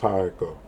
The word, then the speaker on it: Ha-Eko: The Ha-Eko character, they mispronounce it. Like Ha-Eko. It's just Ha-Eko. Almost like how it go.